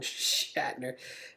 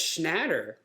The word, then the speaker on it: Schnatter: Papa John Shatner, which I think it's spelled the same too as William Shatner. Oh, it's Schnatter.